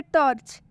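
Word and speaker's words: torch: एक और वर्ड है यहाँ पे टॉर्च, यहाँ पर सी का उच्चारण च हो गया। जैसा कि आप देख सकते हैं कि टॉर्च में जो सी वर्ड है, इसका उच्चारण च हुआ है।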